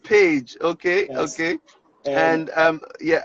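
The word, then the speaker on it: Pécs: University of Pecs. P what? P-A? No, P-E-C-S. P-E-C-S. I would have said Pecs. So yeah, exactly. The pronunciation is quite different. So yeah, University of Page.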